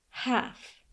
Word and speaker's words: half: The L paired at the end of a word is often silent. It has the effect of stretching the vowel before it. Old, old. Cold, mild. Oat, oat. Built, salt. Oaf, oaf. Golf, half.